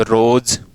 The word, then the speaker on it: rose: ये बोलें कि साहब रोज, रोज, तो देखिए ROSE। अब देखो ये जो S है ये से का फोन देता है और ये जय का फोन भी दे रहा है, ठीक है ना।